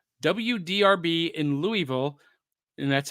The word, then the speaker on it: Louisville: He says WDRB in Louisville, and that's how it's pronounced, folks, Louisville, used to play a lot of kaiju movies